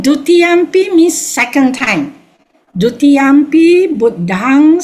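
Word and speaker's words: Buddhaṃ: The B-U-D-D-H-A-M with a dot is pronounced as Buddhang. Can you see? Yeah. Buddhang. Then Saranang, because the M with the dot is NG.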